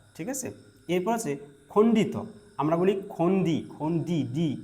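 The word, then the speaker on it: খণ্ড ত: অন্তস্থ অ অন্তস্থ অ ঠিক আছে এরপর আছে খন্ডিত আমরা বলি খন্ডি খন্ডি ই সাউন্ড করি আমরা কিন্তু না খন্ডিত না এটাকে বলতে হবে খন্ডত ওকে খন্ডত এইযে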